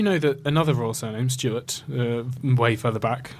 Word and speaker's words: Stuart: They would have pronounced the W as a V, and it would have been Steward. And so she would have been Mary Steward.